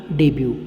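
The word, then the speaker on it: debut: इसमें टी नहीं बोलेंगे, क्या बोलेंगे आप? डेब्यू।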